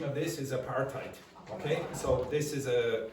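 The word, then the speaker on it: apartheid: So the pronunciation of this is a partite.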